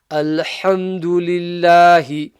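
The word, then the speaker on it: الحمد لله: But for now, this is Alhamdulillahi. Remember to pronounce the ha from the middle of the throat, from the correct makhraj.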